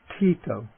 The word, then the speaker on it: ṭhito: some example of okay i'll take the aspirate coming at the beginning of a word to the word for stable or steady tito okay the voiced retroflex